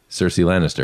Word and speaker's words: Cersei Lannister: Where the full Cersei Lannister.